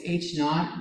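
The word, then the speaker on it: H₀: Like so, if you don't want to say hoe, but hoe rhymes with low. We don't really hardly ever call it ho, it's H naught, but it looks like ho.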